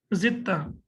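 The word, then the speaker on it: زِدْتَ: So it will be recited as zitta, right? Zitta, zittuma, zittum. In Quran, you might see here that there is a tashdid on ta. That means that dal is not being pronounced.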